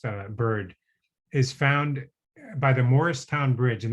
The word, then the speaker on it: Mauricetown: is found by the Morristown Bridge, and that's spelled like Maurice, but it's pronounced Morris, as I learned when I was down there for the book and made the mistake of saying, "Where's Mauricetown?"